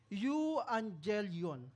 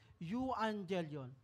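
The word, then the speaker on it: euangelion: sabi diyan evangelism comes from a Greek word you Angel yon medyo Mahirap po siyang bigkasin you Angel yon it means a good message or the gospel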